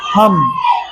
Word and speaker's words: thumb: COMB comb, BOMB bomb, THUMB थम, DUMB डम। समझ गए? तो और MB यानी एम के बाद बी रहे तो उसको बी को हम साइलेंट रखते हैं, यानी उसका उच्चारण नहीं होता है।